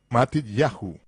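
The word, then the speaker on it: Matityahu: los nombres tales como mateo que en realidad es matitiahu con el acento en ya como es el caso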